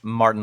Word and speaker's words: marten: Marten Lancelot Barr.